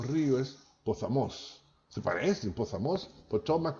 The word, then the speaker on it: Potomac: por Washington DC se llama Potomac que se pronuncia Potomac OK Bueno un señor de mu buena intuición